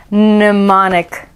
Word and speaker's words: mnemonic: my brain is melting m is for mnemonic mnemonic is your head exploding off of your neck yet because mine is starting to but now mr m can't remember why m is for mnemonic well a mnemonic handy dandy glossary in the back tells us